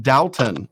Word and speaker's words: Dalton: that hard W in there, Dalton.